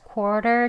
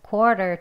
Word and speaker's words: quarter: 네, 다음은요, 워 소리 빼고 quarter이라고 발음하는 거예요. 네, 천천히 하겠습니다. It's quarter to ten.